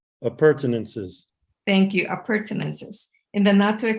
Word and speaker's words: appurtenances: water tank, hoses, and other, how is that pronounced? Appurtenances.